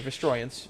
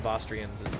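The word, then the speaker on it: Vostroyans: Now the Vasrians are based sorry Vestroyans. I forget there's a pronunciation. I've always I've always called them Vastrians because that's how I've always read it as a kid.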